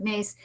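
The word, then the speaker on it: Myss: you know Carolyn and it's mys I think or something is how you spell her name but I think she pronounces it mace anyway she's written several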